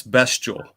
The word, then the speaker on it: Bestial: It's Bestial. Okay, I've been saying Bestial. Bestial, so Bestial. Sorry. I added the A. Yeah. Added A there.